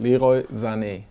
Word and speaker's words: Leroy Sané: How do you pronounce Leroy Sané? I just said it: "Leroy Sané".